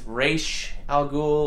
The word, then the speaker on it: Ra's al Ghul: However, if you listen to Denny O'Neil or anybody that truly speaks Arabic, it's Raish Al Ghul or some sort of variation on that. Maybe the pronunciation is off, but we're going to call him Ra's because that's what I grew up listening to, so sorry.